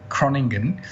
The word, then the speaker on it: Groningen: and that was in Groningen, which I definitely couldn't pronounce before the conference. So it's more sounding like Groningen, which is a town, a very, very nice town in the north part of Holland.